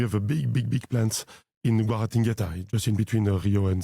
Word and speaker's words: Guaratinguetá: countries, and we have a big plants in Guaratinguetá, just in between Rio and Sao Paulo. Yeah, I'm so impressed with the way you pronounce it, Guaratinguetá, like so smooth.